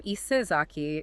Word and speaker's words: Isezaki: You take the ayas from Issei Nakamura Jihei, the sa, which phonetically softened to za over time, from Sagawa Juemon, and the ki from Sasaki Shinguro.